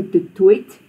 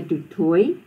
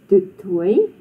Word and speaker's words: du Toit: Baie Afrikaners het vanne wat van Frankryk kom, soos du Toit en Leroux. So remember, if you come across a surname like that, you do not pronounce the T or the X.